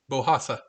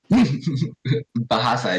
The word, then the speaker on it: Bahasa Indonesia: Bohasa. Bahasa, just Bahasa Bahasa?